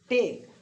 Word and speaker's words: take: जैसे हम यहाँ पर देखते हैं TAKE टेक, तो ध्यान देना यहाँ पर ई जो है साइलेंट रहेगा, क्योंकि यहाँ पर ई का मतलब ये है कि ए को उसकी असली आवाज़ में पढ़ा जाए।